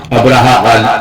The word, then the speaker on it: ابرہہ: مورخین ابراہام لکھتے ہیں۔ ابرہہ غالباً اسی کا حبشی تلفظ ہے، کیونکہ عربی میں تو اس لفظ کا تلفظ ابراہیم ہے۔ یہ شخص رفتہ رفتہ